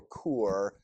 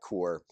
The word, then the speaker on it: Kaur: Indian Canadian poet named a rupee tower or core I'm gonna mispronounce this word I think it's something more like core published the book milk